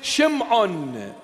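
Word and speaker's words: Shimon: Simon Peter he says Simon is shim on and the proper pronunciation shim on means to him you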